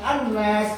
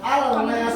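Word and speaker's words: الناس: Maka dari itu cara bacanya adalah anas, tidak boleh dibaca al-nas, boleh. Jadi harus dileburkan.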